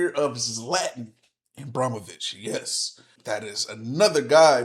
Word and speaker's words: Ibrahimović: I said it wrong, Ibrahimović. I said Abramovich. I said it wrong.